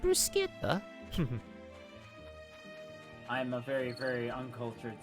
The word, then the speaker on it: bruschetta: I'm very attempted to make bruschetta now. I think it's technically pronounced bruseta.